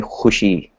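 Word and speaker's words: خوشی: Hushi might be also used in Hindi as well, but you know the way they pronounce it in Udu might be just a little different. So I would say hushi.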